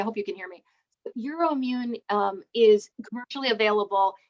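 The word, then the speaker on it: EUROIMMUN: and your immune is probably how do you spell that e u r o i m m u n euro immune yeah sorry i hope you can hear me euro immune um is commercially available it's a rapid um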